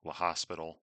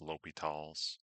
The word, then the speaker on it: L'Hôpital: accent it's OS, like almost like La Hospital, right? But it's French pronounced L'Hôpital's.